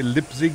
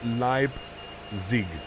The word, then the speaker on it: Leipzig: update by the way lip Zig is pronounced Li Zig not lipzig lipzig lip Zig lip